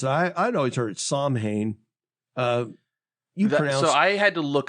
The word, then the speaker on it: Samhain: So what I found was it's pronounced Samhain. Samhain. Okay. It's one of those like weird Celtic Gaelic words.